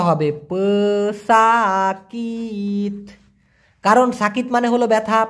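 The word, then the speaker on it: pesakit: উচ্চারণটা হবে প সাকিত, কারণ সাকিত মানে হলো ব্যথা, প সাকিত মানে হচ্ছে অসুস্থ ব্যক্তি।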